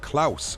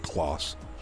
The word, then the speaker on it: Klaus: see what they plan it's pronounced klaus okay klaus that makes sense because it's german not clos see that's the that's the english and french in me because a you in french is o like close klaus thank you